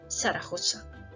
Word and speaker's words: Zaragoza: It's always pronounced as S sound, como en zona, zapatos, Zaragoza.